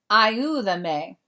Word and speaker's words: ayúdame: They added the accent because ayuda is 3 syllables. And if it has 2 or more syllables, you have to add the accent mark over the stressed vowel. So it would normally be ayudame, ayúdame.